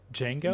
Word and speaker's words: Django: Django? No, it's Django. The D silent.